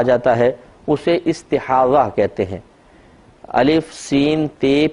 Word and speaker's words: استحاضہ: ہیں ضاد اور ہا، استحاضہ، اور اردو میں استحاضہ کہہ دیتے ہیں زے کے ساتھ، تو یعنی ہے ضاد ہی لیکن اردو میں ہم زے کے ساتھ تلفظ کرتے ہیں استحاضہ۔ استحاضہ کا مطلب